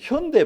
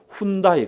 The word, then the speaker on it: 현대: 외국 사람들이 현대 발음이 안 되더라고요. 현대를 저 필리핀 쪽에 가니까 훈다이 그러더라고요. 훈다이. 현대 표기를 읽으면 훈다이를 그래요. 훈다이.